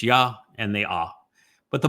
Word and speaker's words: Yahweh: And haya tells you how to pronounce the ah, the he, and the yod. It's Hi Yah. So the first two letters in Yahweh's name would be Yah, Hi Yah.